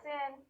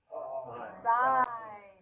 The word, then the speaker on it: sine: That's not a sin. Sine. You got it right, but we say it's sine, yes. So sine, which is spelled S-I-N as the abbreviation of theta equals 80 over 1,000.